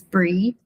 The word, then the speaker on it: Brie: Um, as Amber said, my name's Bri or Briana, but most people know me as Bri, spelled like the cheese.